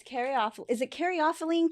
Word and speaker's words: caryophyllene: yes and robert was robert pronounced it um one way and i pronounced it the other and i can't remember who said which but i ended up going home and looking it up and it turns out either is acceptable okay so i think